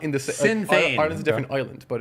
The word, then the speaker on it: Sinn Féin: The reason why I had no idea what you were saying is because how do you pronounce that? Sinn Féin.